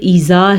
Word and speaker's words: إِذَا: وَاللَّيْلِ، ایسے نہیں پڑھنا، اور از نہیں پڑھنا، یہ ایذا ہے۔ یسر، پھر سے را